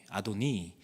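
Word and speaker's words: אדני: 그다음에이가 뒤에 붙으면 나의 나의 주님 그래서 아도나이 아도니 아도나이는 여호와를 그냥 나의 주님이라고 부르는 것 중에 하나고 아도니로 발음할 수도 있습니다.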